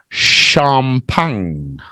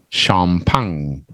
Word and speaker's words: champagne: what it is well it's a French word breakfast so it's pronounced a little bit different in French it's champagne champagne and it's very expensive